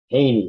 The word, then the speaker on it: Jehne: That's spelled, I don't know if it's Australian, but Jehne. Haney, it's pronounced apparently.